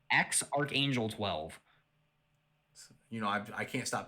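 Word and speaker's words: X Æ A-12: that arc a12 um the ae you know how it's like an ae mix yeah yeah it's a greek symbol i believe right they said that part is pronounced archangel okay so it's like x archangel 12.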